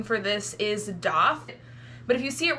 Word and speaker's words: daith: piercing and how it got its name and pronunciation the doth and yes technically correct pronunciation for this is doth but if you see it written and spelled out I completely understand why you would say Dave and I think if you opt to say